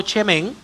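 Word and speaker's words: שמן: La primera se pronuncia como chemén.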